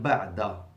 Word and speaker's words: بعد: What's the difference between بعض with a dot, strong, and بعد, soft, دال. بعض بعد. Okay. Not only there is a difference in pronunciation, and this is very clear to the Arabs. The Arabs will not get confused. They distinguish clearly between the dad and the dal.